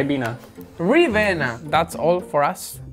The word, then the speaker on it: Ribena: Ravina? There's no Ravina, it's a Ravina. I. Ribena.